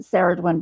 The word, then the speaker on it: Cerridwen: can alternately pronounce it ceridwen but I always pronounce it Karen because sometimes it's spelled with a k so it just makes sense to me that would be pronounced with a a K sound so anyway I found